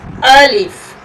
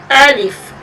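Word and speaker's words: ألف: a l i f Al if it's very easy you can speak it and the point of articulation of Ali is about the Hol portion of the mouth Al if is pronounced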